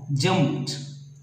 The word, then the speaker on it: jumped: not jumped, looked, no, jumped. After P, it will be T sound, jumped.